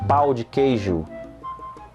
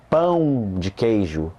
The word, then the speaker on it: pão de queijo: So you have to be careful with this word, right? It's dangerous. So instead of saying pau de queijo, say pão de queijo. Learn to use the nasals.